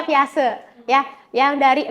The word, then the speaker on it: Piaget: Tulisannya Piaget. Dibacanya Piaget.